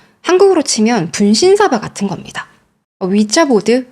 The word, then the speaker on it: 위자보드: 치면 분신사바 같은 겁니다 위자보드 위자 보드에요 제가 잘못 알고 있는 거네 자인데 발음은 위치라고 많이 불러요 아 그 얘기 했던